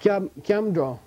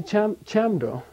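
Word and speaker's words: སྐྱབས་འགྲོ: If I did, if like Kyamdro, right? Going for refuge. Here's the transliteration. Okay? Skebsagro. Skebsagro. That's transliteration. The modern pronunciation of this word in Central Tibetan dialect, which is what I, is Kyamdro.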